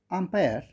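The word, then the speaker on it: umpire: বাট যখন কেউ বলবে ধরো ক্রিকেট খেলার আম্পায়ার তখন এই জায়গাটা এখানে উচ্চারণ কিন্তু আ। আ কিন্তু ভাওয়াল।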